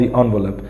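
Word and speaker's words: envelope: He wrote to गॉड ऑन the later on द एनवलप. इसकी right pronunciation होती है एनवलप, इट इज नॉट एनवलप, एनवलप.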